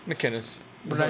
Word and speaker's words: McInnis: McInnis. What did I say? It's a C, not a G. McInnis. Ding dong. I answered to that. It was McGinnis.